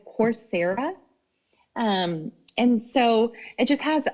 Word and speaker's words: Coursera: Coursera, it's course, ERA. Okay, thank you. With an H? ERA, so COUR, course, like class, course.